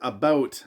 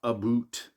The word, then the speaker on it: about: I pronounce it about, not a boot. Uh, I don't know any Canadians that say a boot.